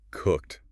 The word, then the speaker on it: cooked: This deals with the dreaded ED ending of regular past tense verbs. Professor, why does this specific suffix cause so much chaos? Because Portuguese is an intensely phonetic language. When a Brazilian speaker sees a vowel on a page, their brain demands that they vocalize it. So, when they see c o o k e d, their brain parses it as two distinct syllables.